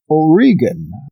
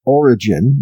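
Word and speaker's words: Origen: church father we have that is O'Regan some people pronounce that origin but it's full read again and so please give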